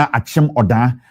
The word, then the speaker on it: Akim Oda: Akim Oda and Achim Oda. Achim Oda and I say Akim Oda. However you want to pronounce it, it's up to you.